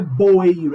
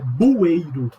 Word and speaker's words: bueiro: Não é boeiro, é bueiro. Não é cabeleireiro, é cabeleireiro.